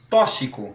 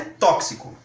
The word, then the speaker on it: tóxico: e toxina sendo que às vezes nós ouvimos algumas pessoas pronunciando tóxico é tudo uma questão de escolha o que a gramática sugere é tóxico exceção aqui já é